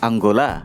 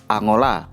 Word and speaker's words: Angola: Negara Angola penulisannya tetap, tapi pelafalan aslinya adalah Angola. Sementara nama dalam bahasa Indonesia seharusnya dibaca Angola, jadi sedikit berubah.